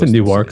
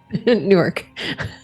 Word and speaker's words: Newark: too far you probably have it relatively it's a new work so it's gonna be 30 of an hour I'm sorry how'd you pronounce that is a new work oh geez Newark oh goodness okay it's a soft w ow